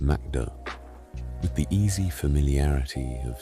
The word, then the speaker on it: McDo: They call it McDo, pronounced McDo, with the easy familiarity of something that's simply been absorbed.